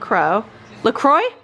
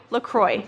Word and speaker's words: LaCroix: soda Grey Goose and look crow Lacroix Lacroix that's how you say it okay on she's